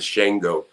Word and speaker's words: Shango: name and it's shingle the correct pronunciation of the shango but i thought that